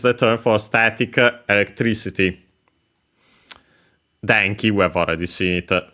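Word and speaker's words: 電気: Denki, we have already seen it thanks to this very series. Accent on the first Mora, one of those Chinese compounds, electricity.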